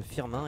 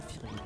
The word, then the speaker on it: Firmin: pas du coup pas ça se prononce firmin et non pas fini donc j'essaie raid a